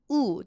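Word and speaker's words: ㅜ: And oftentimes, it's not G, it's U. Do you see how I even put like a little stick? That's a long U sound, so you'll have to pronounce it like Uber. You know, Uber. U.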